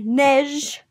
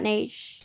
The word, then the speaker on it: Neige: from the new soleil in asia it's actually pronounced soleil mesh mesh not nage collection so if you are interested in checking